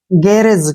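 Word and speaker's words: garage: होगा ठीक है और बाद में जो ई आया है इसको प्रोनाउंस नहीं करेंगे गेरेज क्या बन गया गैरेज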